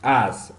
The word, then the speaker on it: asked: So this is not asked. You can't pronounce the k. It's like as.